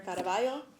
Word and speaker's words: Caraballo: My name is Senator Caraballo, not Caballo because I'm not a horse.